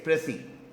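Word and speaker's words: précis: ये बोलने में ये ई जो है ना, ये फ्रेंच वाला है, ये वो हमारा वाला ई नहीं है. और ये जो है इसका एस भी ऐसे होता है. तो इट्स कॉल्ड प्रेसी. इसकी प्रोनाउंसिएशन तुम गूगल पे चेक कर लेना.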